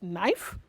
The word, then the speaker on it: knife: the silence letter k silent letter k yes knife nobody no nobody pronounces this as knife nobody nobody nobody so the correct pronunciation is knife not knock no knee knowledge and